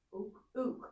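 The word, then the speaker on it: οὐκ: Ook. Ook, exactly. Ook like soup, right?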